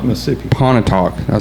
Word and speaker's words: Pontotoc: I can't pronounce it. I'm from Pontotoc, Mississippi. Pontotoc.